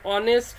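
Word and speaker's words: honest: যেমন অ্যান অনেস্ট ম্যান, অনেস্ট ম্যান, an hour. হয়ের মতো কিন্তু উচ্চারণ হচ্ছে না, এখানে অয়ের মতো উচ্চারণ হচ্ছে।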